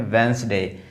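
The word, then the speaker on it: Wednesday: इसको लोग बोलते हैं वेडनेसडे। नहीं ये वेडनेसडे नहीं है। ये है वेडनेसडे। ये वेडनेसडे इसलिए है क्योंकि यहां पर देखिए ये जो डी है वो साइलेंट रहता है। यहां पर ये डी है यहां पर वेडनेसडे में ये इसको वेडनेसडे ही बोलेंगे। ये डी जो है होता है वो साइलेंट होता है। इसको पढ़ते हैं वेडनेसडे। ये डी जो है इसमें साइलेंट होता है।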